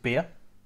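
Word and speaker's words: Byrrh: We've actually used a sweet muscat wine, which is called beer. Okay. It's spelled B-Y-R-R-H.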